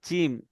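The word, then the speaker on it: ج: দেখেন এই জা আর জিম, এই দুটো যেন মতসা না লাগে, ঠিক আছে। জিমটা হবে জিভের মাঝখান এবং মাড়ির মাঝখান দিয়ে উচ্চারিত হবে।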